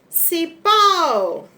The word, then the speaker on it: cipó: Cipó, pó, o acento será agudo. Cipó.